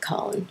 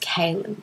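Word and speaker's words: Kahlan: But in the show they pronounce it Colin. But I'm sure I've read that it's pronounced Kaelin by Terry Goodkind.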